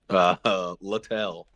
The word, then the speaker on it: Littell: And I did say that, right, Norm? I believe that's right. I went to the pronunciation. Littell.